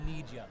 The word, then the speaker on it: Nydia: No, it's pronounced Nidia.